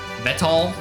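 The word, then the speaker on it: Weltall: Vital is German for cosmos or space, pronounced with Vetal.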